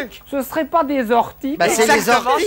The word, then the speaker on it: orties: C'est la liaison, c'est la liaison avec les orties.